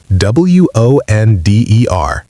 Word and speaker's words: wonder: Wonder, like the word under, but with a W.